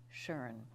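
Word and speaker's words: Tjörn: spell that it's t j o umlaut RN pronounced Sharon and it is about one hour north of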